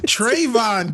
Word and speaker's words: Trayvon: on Twitter he wished Trevon Martin a happy birthday which was I thought particularly trayon at least pronounce it right Cecil Jesus Trevon is that is that he Trayvon godamn it I'm sorry I'm